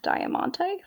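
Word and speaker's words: Diamante: this is a cover by breaking benjamin and diamonte that's how you pronounce that it's beautiful also not playing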